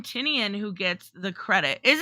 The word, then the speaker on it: Tinian: Tinian. Oh, yes. That's how I learned how to say it. Somebody said on my stream last week that it was like tiny onion, Tinian, right?